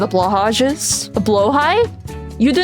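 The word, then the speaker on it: Blåhaj: She has an entire TED talk about the the history of blowhigh. You need to educate yourself. Well, blow high is technically the way you're supposed to pronounce it.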